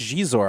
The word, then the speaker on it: Xizor: I always just said Xizor cuz I thought it was funny, but it was Yeah, it's It's like she, but See? So Josh, one thing we've talked about on the show is hot Xizor".